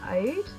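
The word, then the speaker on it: Oud: I'm just using Ode, it's this one. I think that's how you say it, it's O-U-D, Ode, I don't know.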